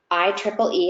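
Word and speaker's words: IEEE: Electrical and Electronics Engineering or I Triple E as it's pronounced they have a standard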